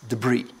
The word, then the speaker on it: debris: silent P 22 debris it's a silent s stuff the breeze or the brace debris all right if you're